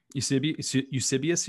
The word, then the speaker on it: Eusebius: Eusebius. Eusebius, you mean?